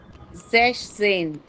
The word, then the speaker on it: sechzehn: Yeah, but in 16, 6 is sechs. If you see here, 6 is sechs. But this S will not come here. It will be sechzehn. Sechzehn. Yeah, here S is not coming.